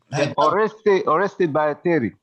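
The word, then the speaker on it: Oreste Baratieri: as defeated Italian general, how do you pronounce this? Oresti Barataria? I can't read it, Mike. I can't see it from where That's I am. fine. That's fine. That's fine. Had dubbed. Oreste Barateri. Yep. Thank you.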